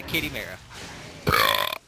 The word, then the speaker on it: Chimera: The joke is ruined now that I didn't say it right. It's a kitty mara.